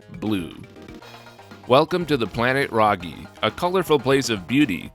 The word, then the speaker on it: Raguy: geocd version is adcd000 based on the spelling you might be tempted to pronounce the japanese title ray guy i mean after all